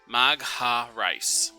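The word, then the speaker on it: Magharic: pronounce her last name? Pulling that back up. Magarice. M-A-G-H-A-R-I-C. Magha-Rice.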